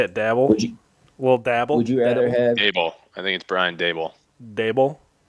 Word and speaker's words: Daboll: But last year Brian Daboll, I don't know, Ty, look it up.